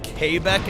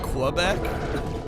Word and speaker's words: Quebec: Telling everybody was Kbeck and not Quebec. I have only ever heard it Quebec. That is the only way I've ever heard it pronounced.